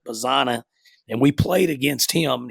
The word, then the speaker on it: Bazzana: And then the other finalist, Quinn, is Oregon State infielder Travis Bazzani. So I guess that's how you say it, Bazzana.